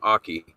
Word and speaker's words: Aki: I actually asked Andrew Andrew Aki is how you say his last name Aki I thought it was achy as well when I first talked to him he corrected me so I actually um